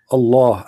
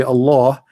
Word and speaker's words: Allah: we say el e it's not really it's not like allah you see allah the h is really strong in arabic there's light light h which is not even pronounced so okay okay so